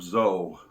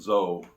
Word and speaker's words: Zoe: There was a summer camp up there called Camp Zoe, Z-O-E. We called it Zoe, although some people might pronounce it Zoe, but everybody back then called it Camp Zoe.